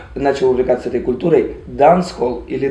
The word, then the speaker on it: dancehall: Ты знаешь, дело в том, что ямайцы вообще, если мы будем пытаться имитировать ямайское произношение, то мы вообще должны говорить дансаль. Дансаль или дансаль. Dancehall can't start forever and ever. Dancehall can't start. Потому что они не читают букву H, и плюс они как